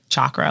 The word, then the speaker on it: chakra: said it right because I always say chakra but typically technically it's like chakra like chocolate which is what he said